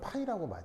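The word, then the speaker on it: ψ: 그냥 그 우리말 표현들은 파이라고 보통 표현합니다 이게 자음이 앞에가 두 개가 붙어서 발음하기가 애매하죠 그래서 이제 파일 이렇게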